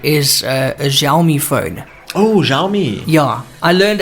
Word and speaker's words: Xiaomi: Oh, Xiaomi.